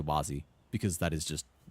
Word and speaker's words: Wazi: phonetic except for the wasy part which is pronounced like was some people say like wazy or wazzy. I don't know. know it's like it's up to you I guess. Some people a lot of people say Wazy because that is just how it naturally is